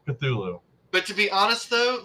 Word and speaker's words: Cthulhu: bro how hard was it just to say Cthulhu but to be honest though like that's the weirdest pronunciation for how it is written I did